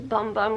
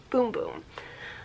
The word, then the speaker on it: Bum Bum: i thought it was bum bum cream i thought the celery was pronounced because it's spelled bum bum but apparently it's pronounced boom boom so i've got a